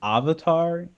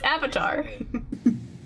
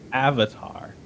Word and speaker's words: Avatar: The fact that they're saying Avatar, It's Avatar. Avatar, it's pronounced Avatar.